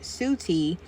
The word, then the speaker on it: Set: The meaning of the name set is unknown, but it is thought to have been originally pronounced suti uh based on spellings of his name in Egyptian hieroglyphs as ST and S wtth.